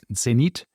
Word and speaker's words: Zenith: actually, if you say Zenit, because you're pronouncing it in the Swiss German way, people might not know what you're talking about. But if you say Zenith, then you might.